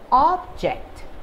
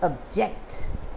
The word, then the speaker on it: object: of the word so when i stress on the first part of the word the first syllable of the word object which means it's any item any uh curio any lovely looking thing object and the verb is object object so object is to